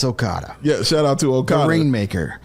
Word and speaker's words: Okada: I thought if you knew the whole name, I was going to give him I'm terrible at pronouncing. Okay, Okada, I'm not going to butcher it. It's Okada.